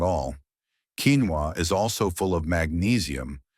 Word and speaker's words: quinoa: Quinoa, pronounced quinoa, is a simple, tiny grain that cooks up just like rice.